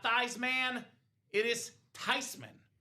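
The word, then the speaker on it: Theismann: It's not Thesman. It's not Thyman. It's not Thman. It is Tyman. It's a German name.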